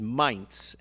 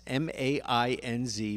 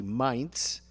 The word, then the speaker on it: Mainz: So the pronunciation is Mainz, M-A-I-N-Z, Mainz. I was saying a little bit more towards Mainz, but it's Mainz, and Susie is absolutely correct.